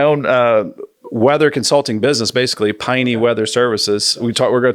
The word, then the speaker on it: Peine: So when I moved to Louisville, my agent and the management at the time decided my real last name is Peine, German, like Heine Brothers Coffee.